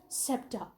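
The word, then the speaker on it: sceptre: septic race scepter basically this word is s-c-e-p-t-r-e which is pronounced as septa all right and it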